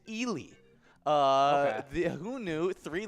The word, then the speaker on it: Ely: here here it is it is common mispronouncing is ellie which i think you were trying to avoid saying ellie because it was just too obvious um and the actual pronunciation is ely uh the who knew